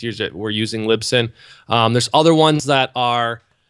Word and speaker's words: Libsyn: When it comes to the software like that, I'm using Libsyn. And so I'm Is using that how you say it? Libsyn, yeah, it stands for Liberated Syndication. So it's Libsyn, Libsyn.